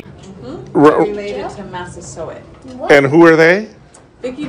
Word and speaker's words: Massasoit: How do you pronounce his name? Mm-hmm. Related to Massasoit.